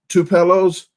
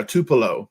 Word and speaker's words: Tupelo: think it's in a two pillows I call it two pillows but - polo - polo - Paco whatever that town is in Mississippi yeah Tupelo but I call it two pillows Tasha locks for me